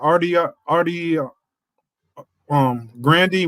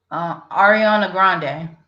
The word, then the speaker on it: Ariana Grande: period, and the best out there right now, I would have to say is our how you pronounce her name? Artie Grandy. What's that girl's name? Ariana Grande.